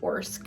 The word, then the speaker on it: Orsk: Essentially, we have this lady, Amy, who works at this place, Orsk. I think that's how you say it.